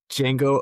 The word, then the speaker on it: Django: The D is silent, Tyler. Give me Django Unchained for Oscar winner.